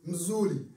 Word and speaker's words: mzuri: You reply, mzuri. Mzuri. Yeah. Did I pronounce that correctly?